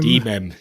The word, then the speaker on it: De.mem: Is that how you pronounce that one? De.mem? De.mem, yeah, De.mem.